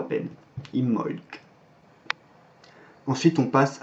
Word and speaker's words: Imbolc: et ça se prononce imholz donc en fait on insiste sur le m imholz et à la fin on prononce légèrement un petit cas mais on l'entend à peine imholz ensuite on passe à